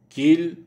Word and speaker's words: Kiel: Le E de hier, Kiel, Wien ne se prononce pas. Hier, Kiel, Wien.